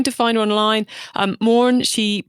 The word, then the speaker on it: Moran: if you're trying to find her online um mauren she pronounces as she pronounces her surname is spelt